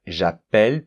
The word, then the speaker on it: j'appelle: Donc en fait cela, c'est une façon, parce que la conséquence de cela, c'est que le E de j'appelle, il va s'ouvrir. Le fait de doubler la consonne, ça ouvre la lettre E.